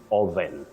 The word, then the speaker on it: oven: oven the O the this o takes what we call the mid Central sound H just like in the word stomach not stomach that we